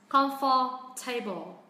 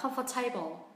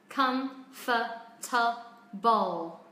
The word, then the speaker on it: comfortable: Thế bạn phát âm vào là comfortable. Chọn âm rơi âm thứ hai. Đấy, có hai từ là comfort và table đi với nhau á, thì gọi là 200% là sai, chứ không phải 100% nữa các bạn nhá. Chúng ta đến này, từ này có 4 âm tiết. Comfortable. Đó. Nhưng chọn âm rơi âm tiết thứ nhất.